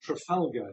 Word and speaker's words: Trafalgar: But in order to get Trafalgar to fit into the scansion and the rhyming scheme, you have to pronounce it Trafalgar. And of course that would be quite reasonable if you were not English.